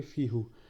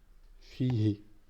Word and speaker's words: فيه: Donc ici, ça aurait dû nous donner fi hu. Mais pour faciliter la prononciation, les Arabes ont décidé qu'on disait fihi, fihi, et pas fihu, tout simplement.